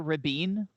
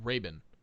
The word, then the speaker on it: Trevor Rabin: trevor robin or trevor rabine r-a-b-i-n are you familiar with it i think it's pronounced raven raven okay whatever r-a-b-i-n